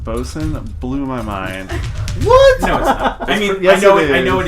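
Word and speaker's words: boatswain: a buddy so well well it's Wayne is pronounced bosun blew my mind no it is yes at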